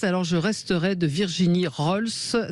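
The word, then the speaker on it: Roels: Surtout que quand on m'appelle Gilbert Collard, j'ouvre pas, vous voyez, Alors le livre s'appelle Les écriresses, alors je resterai de Virginie Rols, ça s'écrit R-O-E-L-S et c'est aux éditions Stock.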